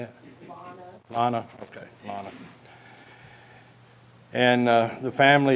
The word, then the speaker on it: Leona: Lana.